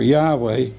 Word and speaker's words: Yahweh: did not impress you but the evidence for Yahweh as the correct pronunciation for the sacred name is at least